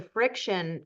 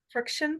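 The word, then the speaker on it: FriXion: And that Uh, was a friction pen? it's called Friction. It's like friction, but spelt with two X's.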